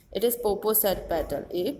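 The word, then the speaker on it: Popocatepetl: मैं जानता हूँ इसे कैसे pronounce किया जाए, said Jen. Jenny कहता है. It is Poposat petal. A Poposat petal.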